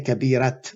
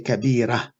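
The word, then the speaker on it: كبيرة: end of the word it's not pronounced actually ta it's a pronounced ha you don't say kadirat we say kabira we're going to talk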